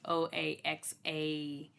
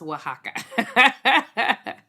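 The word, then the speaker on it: Oaxaca: Um so I was pronouncing it oax oaxa. That is not it. Waka going to safer till tomorrow. Thank you. So yep. Oh. Well, there we go. I I it is pronounced wajaka because it I'll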